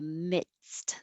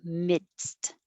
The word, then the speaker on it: midst: behind the top teeth you have to stop the airflow with your d mit and then release it for the s mits and then stop it again with the t midst midst if you leave out the d it will sound like mist like i missed your call